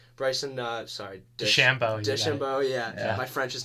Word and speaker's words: DeChambeau: Sorry, is that how I'm pronounced? Bryson DeChambeau, yeah. DeChambeau, yeah.